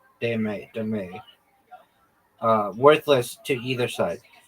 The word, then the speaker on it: dame: Also known as demay.